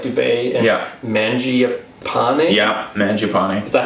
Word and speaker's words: Mangiapane: Yeah, Mangiapane.